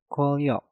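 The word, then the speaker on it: 권력: Kwon berakhiran dengan nien, setelah itu diikuti kata yang diawali dengan real, maka nien yang ada di kata kwon kita rubah menjadi real. Dan pengucapannya menjadi kwolyok.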